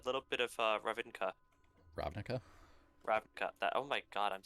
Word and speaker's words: Ravnica: Ravnica.